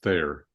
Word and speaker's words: Thayer: I always wonder when my dad would say Thayer and then T as in Tom, Hayer, because it sounds like fair on the phone or Yeah. microphones or whatever. So yeah, it's Thayer.